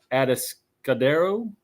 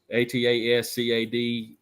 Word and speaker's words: Atascadero: So he goes to a maximum security facility there in California called Atascadero. I don't know how to pronounce it. Atascadero. I would say Atascadero.